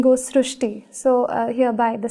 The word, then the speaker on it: Shrushti: So in Marathi, the word Ri is pronounced as Ru. So that is why the pronunciation goes Srishti.